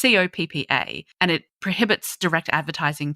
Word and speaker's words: COPPA: Is it COPPA or COPPA? It's COPPA.